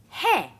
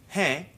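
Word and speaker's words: है: this hey Carol hair but hey in up case a hair is nasalized and pronounced in a different way he let the air come out through the mouth and nose at the same time hey Casey hey in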